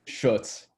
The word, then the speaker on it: Schutt: And from the 62nd Assembly District, the incumbent Robert Whitkey and the challenger Schutt. Is that the correct pronunciation of your name, sir? It's Schutz. Schutt, I apologize.